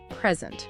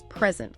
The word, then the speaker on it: present: Or think about present, the gift versus present, like giving a presentation. Your material lays out that general rule. Nouns often stress the first syllable. Verbs often the second.